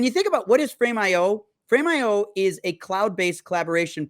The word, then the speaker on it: Frame.io: Well, and to be clear, so Frameio, and I want to make sure I'm saying it right.